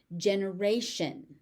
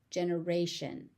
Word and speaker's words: generation: Generation. Generation. Generation. Generation. So there's a T there that is pronounced as a sh. Generation.